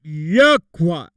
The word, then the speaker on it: Yahweh: We will be using it exclusively, which we pronounce it Yahweh.